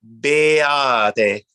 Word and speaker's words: beate: Beate. Yes, that's it. And the stress is on the ah sound.